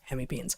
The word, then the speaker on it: hemipenes: And every time I talk about hemipenes, someone is like, "It's penis." Like, you know what? I was a freaking herpetologist. I'm not saying that all of us aren't pronouncing it wrong, but in herpetology, where we study these things, we call them hemipenes.